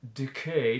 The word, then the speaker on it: decay: for the e vowel but i wanted an e so decay to make sure the second syllable receives the stress you'll also notice from